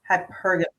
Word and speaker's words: hypergamy: Well, I don't want to mispronounce it. Hypergamy. Hypergamy. What is that? Is that am I saying it right? Hypergamy.